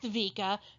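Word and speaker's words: wicce: the old english vica which is pronounced vika but spelled w-i-c-c-e this is because old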